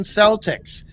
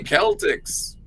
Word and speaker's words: Celtics: There is no such thing as Boston Celtics. It should be Boston Celtics. Boston Celtics. Well, Celtics.